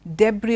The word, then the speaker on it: debris: left behind is the debris of a building so de Br I s now the debris the others chassis the thing is the s is not pronounced in both these words okay now what does